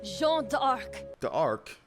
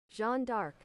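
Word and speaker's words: Jeanne d'Arc: of servant ruler I jean The Arc the ark I don't no that's not how you pronounce it I don't think so Jean dark yeah so can somebody give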